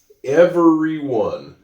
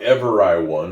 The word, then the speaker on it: everyone: Everyone, the Y here makes the E sound. It's not ever I won, it's everyone.